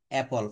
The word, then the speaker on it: apple: আমরা কিন্তু এটা উচ্চারণটা করব হচ্ছে অপল। আমরা যদি আপেল বলি তাহলে আমরা পরবর্তীতে একটা সময় গিয়ে কিন্তু এটা ভুল করে বসবো।